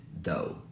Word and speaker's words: though: first one this one let's delete the GH here then it'll look like this and that's exactly how we say it though second word is this